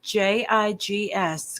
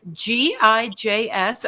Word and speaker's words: Gijs: How do I pronounce JIGS? Because I don't want to trash this, but JIG. No, it's GIJS.